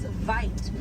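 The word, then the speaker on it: wyd: Original word for white rhino was vite. Vite means wide in Afrikaans, but over time it was misheard and mispronounced, and it turned into the white rhino.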